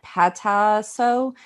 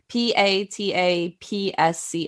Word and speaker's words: Patapsco: Griggs house, which was located in Pataso, Patapsco. I'm pretty sure the P is silent.